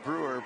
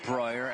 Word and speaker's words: Breuer: Number 12, Annabelle Brewer, picking up her second foul. That's also Germany's second team foul. Or Breuer, as they corrected us on the pronunciation.